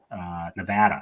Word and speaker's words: Nevada: Nevada, excuse me, I mispronounced it.